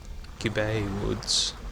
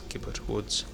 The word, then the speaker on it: Gibbet: For a long time I thought it was Gibbet Woods, because it just looked kind of like a French word, G-I-B-B-E-T, but they do actually pronounce it in cutscenes as Gibbet Woods.